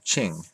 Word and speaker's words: Qing: It's spelled Qing, the Ching.